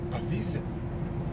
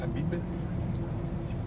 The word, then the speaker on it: Aviv: Hein, on dit Aviv ou Abib, ça s'écrit pareil en hébreu. C'est un bête. Hein, c'est le bête qu'on prononce Aviv, ou des fois on peut le prononcer Abib.